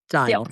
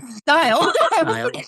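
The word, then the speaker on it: Steil: Republican Brian uh, Style. Style again. Brian Style. Sound like it's spelled, which is why it's it's like one of those names that Style.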